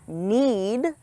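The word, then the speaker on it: knead: You need to know that need. Has the. Exact same pronunciation as. The verb. To need.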